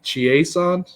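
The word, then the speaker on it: Chiasson: against number nine macey chiesand is that how you pronounce it yeah it's like from louisiana so it's like the french kind of thing it's a macy's song um obviously a lot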